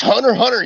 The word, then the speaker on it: Hunter x Hunter: And turned around and said, it's Hunter x Hunter, you cunt, and then just walked off. So keep that same energy. Cunt. You don't pronounce the X.